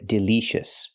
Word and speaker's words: delicious: pronounce the word delicious we cannot use the long e sound like green beans we use the short I sound like this is again Del it's more open I the second vowel delicious not delicious but delicious it's important because this is a stretch syllable it's important to pronounce it correctly delicious example the food